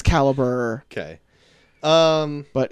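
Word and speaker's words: Calibre: but caliber on Netflix it's spelled like the weird European way it's like see al Li BRE okay caliber a yeah that's caliber okay um but it's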